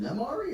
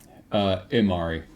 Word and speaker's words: Imari: Is it Nemari or Imari? Imari. Okay. Spelled with a Y at the beginning. Think Emir, just Mari.